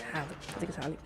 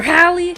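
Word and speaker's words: Halle: I keep saying Haley, but I think it's Hallie. We got her flipping her hair.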